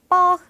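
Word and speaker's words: porc: 기법을 라고 합니다 뒤 a 씨 영화 lc 발음은 안 하시는 거예요 그래서 뻑 라고 하시면 됩니다 첫 마지막 닭고기 우리 치느님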